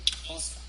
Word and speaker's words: Xhosa: For example, Xhosa, my language that I speak.